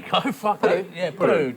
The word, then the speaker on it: Putu: Yeah, Putu. Just spit it out really quick. Spit it out. Yeah, no, it's me that twists it. That's how the Indos say it, Putu.